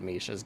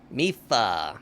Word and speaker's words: Mipha: I just got careless because you knew you had Misha's Grace. Mipha. Mipha. Say it right, you nerd.